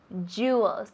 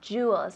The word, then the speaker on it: jewels: Jewels, decimos. Jewels.